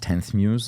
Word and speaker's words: Ex Muse: So it's written ex Muse, but it's pronounced 10th Muse.